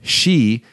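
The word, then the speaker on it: 四: So she means death, but she also 4 means 4, and in the pronunciation you can tell. So can we just pull this up here?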